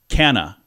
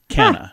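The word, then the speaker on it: Cannes: most mispronounced it's actually Canna Cana not you don't put the S on there can I all right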